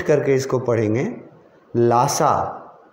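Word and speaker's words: Lhasa: District word छोड़ो, उसके लिए सिटी वर्ड याद रखो कि लासा स्पेलिंग और प्रोनाउंसिएशन अलग अलग हैं, देख लेना, एक एच बीच में है।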